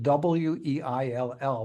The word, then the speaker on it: Weill: Probably the most important question I would ask you before we continue is, why is it Weill, but it's pronounced Weil?